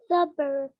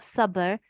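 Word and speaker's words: صبر: Sabr. Bisabr. Practice that, okay, Noor? I know it's hard. It's not sabr. It doesn't rhyme with summer. It's not sabr. It's sabr. Sabr.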